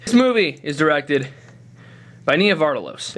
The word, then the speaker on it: Nia Vardalos: movie is directed by Nia vardalos is that how you pronounce her name Nia vardalos nardos isn't that how you say it Nia Vos all right Nia vardalos that's how you do it this movie is